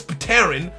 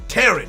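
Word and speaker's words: Pteran: next is dino miss pateron oh no it would be dynamous terran not not pitarian kind of like pterodactyl the p is silent right so dinovius terran if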